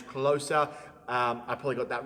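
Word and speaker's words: Klose: I called him Klaus. His name is Closer.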